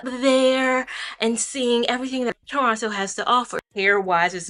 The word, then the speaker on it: Toronto: Just a disclaimer, you will hear me say Toronto with the hard toe at the end. Understand that I know instinctively that it's Toronto. That second T is silent, but charge it to the mind, not the heart.